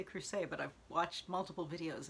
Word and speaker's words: Crucet: Education by Jennine Capo Crucet, which I always want to say Crucet, but I've watched multiple videos and you seem to pronounce the T, so.